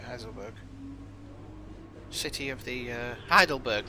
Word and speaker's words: Heidelberg: to hide uh uh heiselberg heiselberg yeah i think i'm saying it right heiselberg city of the uh heidelberg not heisel heidelberg city of the